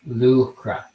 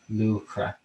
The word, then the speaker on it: Luachra: mountain and uh lucra is is russia's uh pronounced lucra lucra and sleeve lupra then put it together it